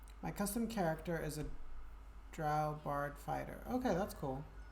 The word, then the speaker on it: drow: Drow like cow.